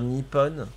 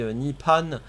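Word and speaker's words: Nippon: Japonais euh oui dans le sens que tu prononce mal délibérément en fait au lieu de dire Nipon Nipon tu dis hepon c'est c'est c'est néglig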